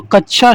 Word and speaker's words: कक्षा: तो कक्षा शब्द का शुद्ध उच्चारण होगा दोस्तों आपका कक्षा, कच्छ, कक्षा, कक्षा या कच्छा।